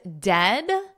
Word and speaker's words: dead: The word dead, the vowel in it is the same vowel as bed. So we can isolate this to that ed. And then just put a D, dead, bed. But we don't want that long E sound like we have in the word bead. Eed, eed, bead.